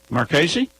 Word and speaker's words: Marchese: We had Michael Whiteside from Cleveland, decisioned Marchese. Is that how you say it? Marchese?